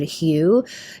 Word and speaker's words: HU: And one of my favorite ways to meditate is simply to chant the word hue. Hue. It's H-U, pronounced like the color hue or the name hue.